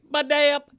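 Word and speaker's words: Badayup: Baday-up, B-A-D-A-Y-U-P, with the emphasis on the middle syllable.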